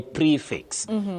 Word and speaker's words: prefix: Betty you talk of pre pre not pre is the spelling but you have pre as the sounding. You say prefix.